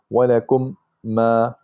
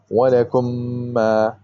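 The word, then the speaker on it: وَلَكُم مَّا: You don't say walakum ma, you don't pronounce two of them separately, but you say walakum ma.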